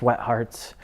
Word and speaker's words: WGT Hearts: that i was in by the name of wgt hearts pronounced wet hearts and but we put